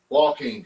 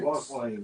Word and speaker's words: Joaquin: Joaquin Phoenix. Joaquin, yeah.